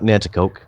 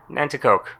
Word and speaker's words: Nanticoke: Nanticoke. Nanticoke.